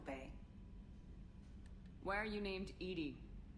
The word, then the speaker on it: EDI: why are you named ed ed is the phonetic pronunciation of ed I that is an acronym for enhanced defense intelligence what do you do